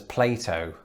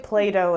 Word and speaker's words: Plato: from my childhood but i pronounce the name of the philosopher as plato i say play-doh as well yeah you do it in the american way where the t becomes a d and it sounds like play-doh yeah yeah